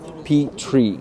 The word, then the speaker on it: Petrie: Petrie. You told me before that it's like peeing on a tree, right?